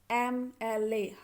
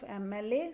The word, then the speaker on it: MLA: mla or ssp okay so you can see when we open our mouth to pronounce this mla however it is written m it starts with the consonant but when we open our mouth to pronounce this which sound we are getting first okay so it is a sound vowel sound we will use and in front